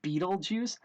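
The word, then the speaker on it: BtleJuice: It's I think you're supposed to pronounce it Beetlejuice, but the actual number, the website is BTLE Juice.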